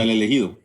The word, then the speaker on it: El Elegido: Is you have a book out called Elegido? Is that correct? Is that how you pronounce it? Yeah, El Elegido.